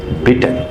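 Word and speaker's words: bitten: Pronunciation हो जाएगा बाइटिन हो जाएगा, लेकिन यहां पर डबल टी कर दीजिए, क्या हो जाएगा? बिटन। ई का प्रोनाउंसिएशन एन हो जाएगा, तो बिटन, बिटन डबल होगा।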